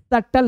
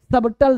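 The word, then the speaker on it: subtle: भी पता ना चले इसमें बी क्या है भाई? साइलेंट है। सटल है। सबटल नहीं है। सटल है। ठीक है जी। सटल। सबटल नहीं सटल।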